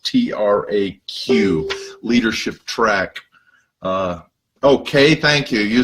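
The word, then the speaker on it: Traq: I'm really grateful to my friend Mick Uclea, who runs an organization called Leadership Track, and it's spelled T-R-A-Q, Leadership Track.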